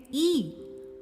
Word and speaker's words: gnome: So let me tell you that the word gnome is spelt as Gnome, but we pronounce it as gnome.